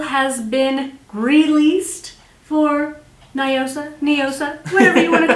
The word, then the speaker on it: Noosa: body whatever first off do you say Noosa or neosa apparently neosa neosa apparently we've all been saying it wrong because like the founder lady orever she's like neosa yeah neosis that's so